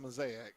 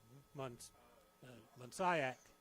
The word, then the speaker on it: Mansayak: learned how to pronounce Mansayak. I guess I'm doing it right. I've called it Mansayak and Mosaic. So I've been told it's kayak with a mun. Mansayak.